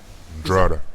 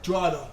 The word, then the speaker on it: Drogheda: Drada. Huh? Drada. Drada.